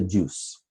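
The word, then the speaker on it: juz: It's interesting that the 30th of the Quran that we're reading day by day, it's called the juice. Yeah, it's spelled J-U-Z, but it's called the juice.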